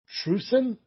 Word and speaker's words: Trusin: got here uh apocalypse will be taking on trusin t-r-u-s-i-n and that's how you pronounce it for wrestling crucial eight championship match